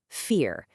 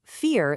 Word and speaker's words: vier: Take the number four, vier. In German, the V sound is often pronounced like our F. So, vier sounds a whole lot like four.